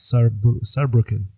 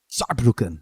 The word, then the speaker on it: Saarbrücken: I don't want to butcher the pronunciation, but it's Saarbrücken. Saarbrücken.